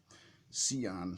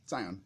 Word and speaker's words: Scion: good it's a space opera science fiction okay see on Sion excuse me Sion Royal Wedding Ron Marz Jim Jim I always